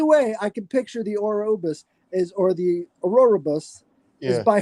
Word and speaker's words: Ouroboros: If you're talking about Ouroboros, I don't know if that's how you pronounce it. Is that how you pronounce it? The snake eating his tail? Ouroboros. Yeah. Right. Ouroboros.